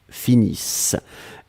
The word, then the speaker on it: finissent: Nous finissons, vous finissez, il, elle finissent. ISSENT, mais on ne les prononce pas, donc le ENT comme d'habitude.